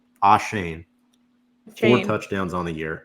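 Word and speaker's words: Achane: rushing touchdowns and and trying to pronounce his name correctly because I think it's Devin ashane four touchdowns on the year averaging 11 yards ashane got it thank you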